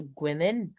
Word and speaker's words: Gwenel: Alors, sans plus tarder, je vais donner la parole à Monsieur Gwenel. C'est comme ça, je pense. Je prononce bien. C'est plutôt Gwenel, mais c'est pas grave.